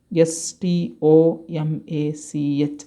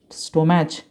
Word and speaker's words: stomach: known as a stomach s t o m a c h stomach don't pronounce it as a stomach okay uh one person one student last year pronounce it as a stone match okay don't consider this